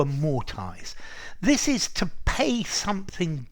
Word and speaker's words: amortize: to amortize to amortize I hear the Americans saying amortized but I would say to a more ties this is to pay